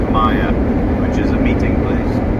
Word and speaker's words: Monkey Mia: If you're wondering why I keep saying Monkey Maya instead of Mia, it's because it's an Aboriginal word and it's pronounced Maya, which is a meeting place.